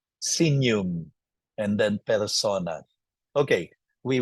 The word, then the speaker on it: signum: but judiciales ustus justum not Signum because G and N pronounce as n senum and then Persona okay